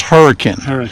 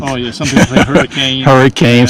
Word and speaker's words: Hurricane: hurricane so it's pronounced hurricane yeah I pronounce that everything hurricane so it's hurricane yet so officially heard of here that is the official way it is pronounced by the locals yeah were you able